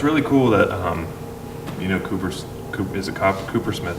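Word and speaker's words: CooperSmith: I always get it confused, Copper Smith or Cooper Smith. But it's Cooper, and it's Cooper cool Smith, too.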